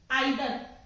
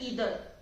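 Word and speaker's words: either: आइदर, आइदर, आइदर, लेकिन actually में क्या होता है, ईदर, इट्स ईदर, नॉर, नीदर, नाइदर भी नहीं होता, नीदर, ऐसे ही ईदर, राइट।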